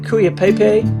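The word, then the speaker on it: Cuyapaipe: It's like Kuya Pepe. It's cu y p a i p ae.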